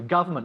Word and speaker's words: government: Government, not government.